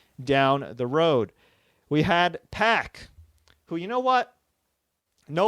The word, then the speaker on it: PAC: PAC to become pack if you want it to be pack guess what put a little accent mark there put a k put two C's may maybe spell it like my carean friends where do p a that's pack but Pac is Pac I'm sorry xpac Tac Pac it's not pack it's Pac so anyway Pac soan